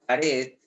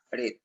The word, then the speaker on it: pared: Si yo tengo la palabra pared, yo lo separo en sílabas. Pared. Ahora dime, ¿cuál es la sílaba que tiene el mayor sonido de voz? ¿Cuál es la sílaba que tiene mayor sonido de voz? Pa. No sé. No, red, red, red.